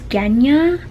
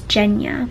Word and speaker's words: Genya: was grisha it's grisha and i thought it was genya but it's jenya i feel like me